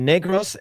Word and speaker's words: Negros: Hate to break it to Americans, but Negros uh is an island in the Philippines.